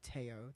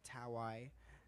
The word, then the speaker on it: Taio: Okay, well, sometimes people say Taio. That's the most common one because they see the A and they pronounce the A first. Sure.